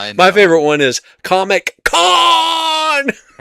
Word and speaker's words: Khan: IT'S CON. BUT HOW DO you know if you've never seen it? Well, there's a lot of mememory out there. My favorite one is Comic Con.